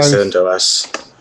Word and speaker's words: CentOS: Yes, CentOS 7. Is that how you say it? CentOS? Which way is it? I typically say CentOS. Yeah. Okay. Both are okay.